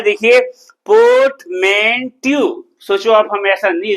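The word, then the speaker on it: portmanteau: Port अगर पढ़ देते तो गलत हो जाता, चूंकि रा के पहले स्वर है। फोनेटिक्स पढ़ चुके हो, सुना है थोड़ी बहुत कि रा के पहले स्वर होगा तो रा का उच्चारण नहीं होगा।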